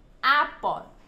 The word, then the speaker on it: apple: Bởi vì trọng âm nó rơi vào âm tiết thứ nhất là A, nên chúng ta sẽ đọc mạnh hơn và rõ hơn âm tiết còn lại.